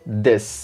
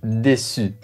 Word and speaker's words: です: Et enfin, la terminaison qui indique la politesse se prononce des. Et non pas déçu, déçu.